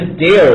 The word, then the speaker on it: dairy: 一个是 dairy，一个是 diary，发音都有很大的差别。